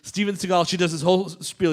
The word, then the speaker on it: Seagal: Anyway, he went to a Chagall retrospective. He's like, I like that. I'm just going to say my name like that now. Seagal. Chagall Seagal. And it worked.